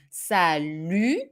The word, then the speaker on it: salut: salud is perfectly fine careful with the pronunciation here too sally a closed u and the final t that is not here but should be here is not pronounced okay you do not